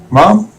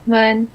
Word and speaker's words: Mun: It's Mom. Is she here? Can you help? Hi, it's Mun. Mom? Mun, H is silent.